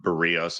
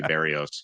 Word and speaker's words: Barrios: I just can't get involved with Barrios. And by the way, tip of the cap to you for pronouncing it so correctly. A lot of people say Barrios. It's Barrios.